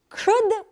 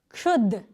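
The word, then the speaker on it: क्षुद्: Ka, sha, and u, kshu. Kshud is the word.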